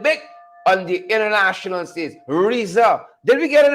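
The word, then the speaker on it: RZA: And we are told the name is pronounced Riza. R-I-Z-Z-A. That's how it's pronounced. If you have to spell it, that's how it's pronounced. R-Z-A. It's pronounced Riza.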